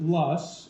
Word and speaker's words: loess: We pronounce it Lus, as if we're making a fuss, even though it looks like Lois.